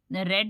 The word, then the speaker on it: read: तो यहाँ पर शी का जो ऑब्जेक्टिव केस है हर आ गया है, और रीड की थर्ड फॉर्म रेड होती है।